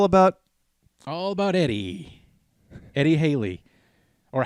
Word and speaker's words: Halley: all about eddie eddie haley or hallie i also heard it pronounced halle that's how i guess they pronounce it then how it's properly pronounced as halle but obviously we all